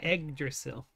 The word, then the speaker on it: Yggdrasil: You're gonna pronounce the Y as an E? Yeah. Eggdrasil.